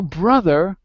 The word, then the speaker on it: brother: So brother is irregular. It doesn't follow the rule. It should be spelled with a U, but it's not.